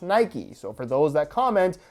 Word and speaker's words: Nike: mythology which is pronounced Nike so for those that comment why do you say Nike when you don't say bikie that's because bike is